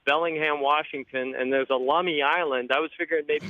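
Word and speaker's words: Lummi: high school in Bellingham Washington and there's a lumy island I was figuring maybe you go take over lumy Island claim ownership where's lumy Island at check it out it's off the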